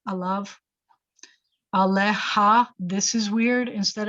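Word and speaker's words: עליו: And it looks like there's a yud in there that's kind of silent with the kamatz yud vav. You pronounce it av, alav.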